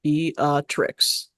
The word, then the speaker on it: Beatrix: It's not hard to say all 3 syllables. Beatrix.